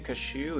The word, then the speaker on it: cashew: By the way, cashew is spelled like cash, as in money, plus you. Cashew.